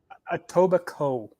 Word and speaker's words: Etobicoke: tobacco is a coke a tobacco is actually how they pronounce it they don't pronounce the k all right etobicoke ontario